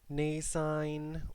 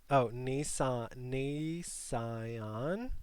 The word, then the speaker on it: nasion: Nasine, root of the nose. I don't know how to pronounce it. Am I saying it wrong? Oh, it says, nasion, and then nasal bone is on top of it.